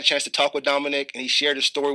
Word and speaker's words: Dominic: How do you say your name? Dominic. Dominic. Yeah. Dominic. Just very easily.